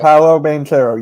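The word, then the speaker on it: Paolo Banchero: do you say it manchero i don't know paulo bantero yes sir what did you think about that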